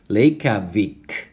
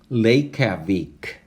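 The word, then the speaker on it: Reykjavík: Reykjavik, Reykjavik, Reykjavik.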